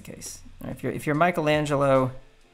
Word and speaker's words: Michelangelo: if you're if you're michelangelo michelangelo i should say since i i know that's the right way to pronounce it and you're working on